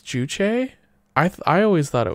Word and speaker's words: Juche: yeah okay never mind it's showing the primary accent on the second syllable yeah so it's juche i hear the cat